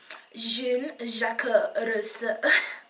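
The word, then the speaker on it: Jean-Jacques: was Jean jako and I'm just going to say it again because my French pronunciation is on point yeah Jun Jak now he said that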